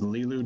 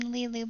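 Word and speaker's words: Lilou: element well you know there's a french name lilu but it's spelled l-i-l-o-u that was the name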